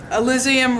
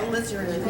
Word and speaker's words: Alizarin: I'm going to throw in the, and I can't pronounce this right, but I know you guys, someone could, Elysium red? Alizarin.